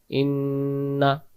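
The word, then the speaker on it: إنا: উচ্চারণ করতে হয়, তখন এই আলিফ অক্ষরটা বাদ চলে যাবে। শেষের যে শেষের আয়াতে যে ইন্না রয়েছে এটাকে তাড়াতাড়ি পড়বো, শুধু গুণনা করবো ইন্না ইন্না।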